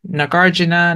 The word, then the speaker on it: Nagarjuna: I probably say like nagarjuna versus nagarana and uh you know it's like a hard or soft J but I'm just hearing